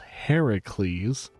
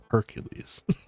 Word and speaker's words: Heracles: whole Hades thing wrong if Hercules technically pronounced Heracles comes up they're probably going to pronounce it as Hercules cuz it's the most incorrect way to pronounce his name so why not all